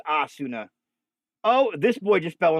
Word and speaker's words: Asuna: Okay, so it's not pronounced Asuna, it's Asuna.